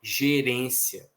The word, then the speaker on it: gerência: Por exemplo, uma ali é gerencia, na outra é gerência. Então aqui a força não é na mesma sílaba, é diferente de pode, que a sílaba tônica é o PO. Ok? Lá é acento diferencial, aqui não. Gerencia, gerência. A força em uma está no si, na outra está no ré.